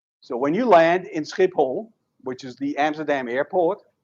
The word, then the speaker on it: Schiphol: So when you land in Schiphol, which is the Amsterdam airport, but we don't call it that, we call it Schiphol.